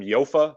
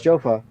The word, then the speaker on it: Jofa: I think some people might pronounce them Yofa, but they're Jofa or Yofa. Does anybody know? Is it Jofa? I think it's Jofa. I think it's Jofa. Yeah, it's Jofa.